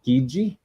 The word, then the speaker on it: Chigi: Then we have Fabio Chigi. The CH makes it a hard C sound when you followed by an I. That's why I pronounced it Chigi and not Chigi, in case you're wondering.